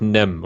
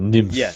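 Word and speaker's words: NIMH: god, I always mispronounce this, The Secret of Nim, or Yeah, Nymph, or whatever it is. pronounced Secret That of one. Nim.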